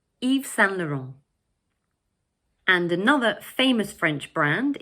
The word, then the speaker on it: Yves Saint Laurent: In the second word, we drop the final T and we say Saint. And the third word is pronounced Laurent. So all together, we say Yves Saint Laurent.